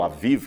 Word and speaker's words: Aviv: Esse mês de Abib, ou Aviv, que seria a melhor pronúncia, significa mês da primavera.